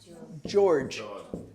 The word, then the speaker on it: George: was what's this one George George George this word the G is not a g sound it's a ja George George James George so